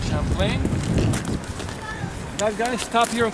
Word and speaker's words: Champlain: Pronounce it the French way, Champlain.